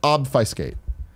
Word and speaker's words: obfuscate: it horse slash prostitute it was awed by skate often a skate its obf us see a ste but it's pronounced obfuscate bob always call that off